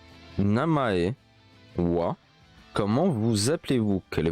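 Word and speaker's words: は: Mais le deuxième wa, watashi wa, ça s'écrit en ha. Mais on prononce wa.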